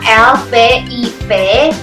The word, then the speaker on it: Lviv: Tulisan alfabetnya L-V-I-V, bacanya Lviv.